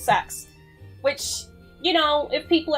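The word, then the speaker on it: CeX: some people review them you pronounce sex different to me I say cats I used Jamesy I used to say c e x but there's actually been an advert on TV and it does this whole thing where it's like it makes a little tune and then it's like sucks so I've actually seen a legit TV advert for that shop so it's pronounced sex which you know if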